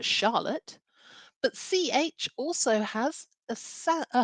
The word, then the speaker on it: Charlotte: So my name, Charlotte, begins with a CH. That grapheme, CH, has a soft sound like sh for Charlotte, but CH also has a harder sound as well, like church.